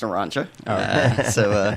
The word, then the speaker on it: Naranga: Scott, do you mind telling us a little bit about Naranga? Sure. First of all, it's pronounced Naranja. But we hear both.